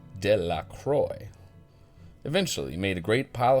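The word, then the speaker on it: Delacroix: and Harry Jones and Dicky Delroy the villagers pronounced this name de la Croy eventually made a great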